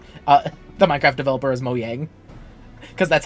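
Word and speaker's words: Mojang: person who pronounces because I'm the person who pronounces uh the Minecraft Publishers or the the Minecraft uh the Minecraft developer is Mo yang because that's how it's supposed to be print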